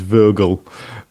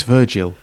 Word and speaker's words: Virgil: gets she's corrected to stop pronouncing it is vergal I think it's Virgil oh thank you so